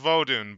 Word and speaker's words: Vodun: I know it's pronounced Vodun, but fuck it.